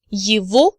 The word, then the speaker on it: его: Now you remember from supplementary materials from previous lectures that G in the word его is actually pronounced as V.